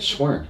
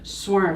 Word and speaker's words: Cwern: your last name or swarm swarm yeah holy it's almost exactly as it looks yeah so exact match